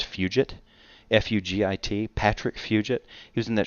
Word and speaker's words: Fugit: this guy reminds me i think the name is pronounced fugit f-u-g-i-t patrick fugit using